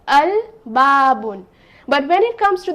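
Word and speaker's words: الباب: the letter la so i will pronounce it as al babun but when it comes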